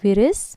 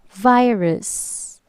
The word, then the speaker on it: virus: they say corona uras so it's not firus but it's virus repeat after me virus